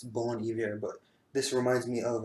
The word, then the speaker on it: Bon Iver: know who bon iver some people pronounce him as bon iver just inverting is the main guy in that musical project but I took French it's born here but this reminds me